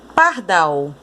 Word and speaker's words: pardal: A sílaba mais forte, a sílaba tônica, é o dal. E ela está, ó, em que posição? A sílaba tônica, que é o dal, é a última sílaba.